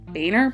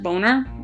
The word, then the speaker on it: Boehner: John but I don't even remember how we pronounce it Boehner boner for to 233 votes to 202 votes and